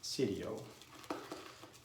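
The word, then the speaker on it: siero: word red in there in italian you pronounce the i so it's pronounced sidio or i don't know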